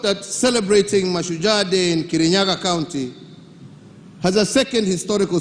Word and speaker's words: Kirinyaga: of the mountain was Kirinyaga. According to folklore, he pronounced it in a Kamba accent, but what the colonizer heard was Kinya.